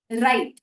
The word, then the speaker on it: write: वैसे ही हुआ doubt, DOUBT, जिसमें भी बी साइलेंट हो जाता है और प्रोनाउंसिएशन है डाउट। राइट, WRITE, इसमें W साइलेंट हो जाता है और हम बोलते हैं राइट।